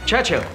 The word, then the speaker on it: Churchill: Churchill, that's how you say it, all together like that. I'd heard church and hill, but couldn't find either.